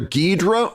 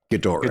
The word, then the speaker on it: Ghidorah: Well, it's been pronounced one of either way, because they had to do the lip sync differently. So depending on the movie, so it was either Ghidra or Ghidorah, which 2-syllable or 3-syllable.